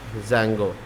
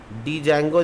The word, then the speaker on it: Django: Open in terminal, और इसमें लिखेंगे python-m pip इंस्टॉल, और उसके बाद ज़ैंगो। ध्यान रहे डी कैपिटल रहेगा, ठीक है। डी ज़ैंगो नहीं बोलते हैं, ज़ैंगो बोलते हैं, डी साइलेंट हो जाता है।